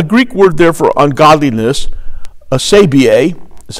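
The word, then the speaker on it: ἀσέβεια: Now, the Greek word there for ungodliness, asabia, is how you pronounce it, means a state of opposition to the rule of God.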